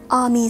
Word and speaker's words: AAMY: this is the new Ami set and it is spelled Amy with two A's but the Katakana is Ami so I'm gonna pronounce it that way because it's a Japanese artist and I feel like